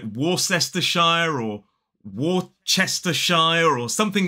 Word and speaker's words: Worcestershire: It is Worcestershire. 3 syllables, the stress falls on the first. And the trick to mastering this word is to kind of ignore most of the letters.